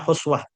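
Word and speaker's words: حسوة: dari Nabiu alaihi wasallam Ini bacanya hasawah ya. Walaupun di kamus kalau saya cek tadi ada yang ada yang bacanya huswah tapi kalau di redaksi hadis ya itu kalimatnya hasawatin min ma.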